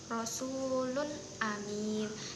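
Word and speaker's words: رَسُولٌ أَمِينٌ: Di sini untuk contoh hamzah yaitu ada rasulun amin. Di sini juga ee ketika domahtain bertemu dengan hamzah itu dibacanya jelas, tidak ada ee seperti samar-samar.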